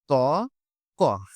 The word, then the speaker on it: ত্বক: গেছে ফলা বসে গেছে সেহেতু এই ফলাটার উচ্চারণটা আমরা করবো না উচ্চারণটা হবে হচ্ছে ত ক এই যে ত ক তার মানে শব্দের প্রথম